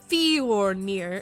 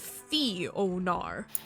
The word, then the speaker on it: Fionar: And I mispronounced it too, calling it Fjornir instead of Fionar.